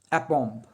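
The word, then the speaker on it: aplomb: অ্যাপম্ব। এল যদিও আছে, এল উচ্চারণটা হবে না, অর্থাৎ এখানে ল সাইলেন্ট। তাহলে কথাটা হচ্ছে অ্যাপম্ব।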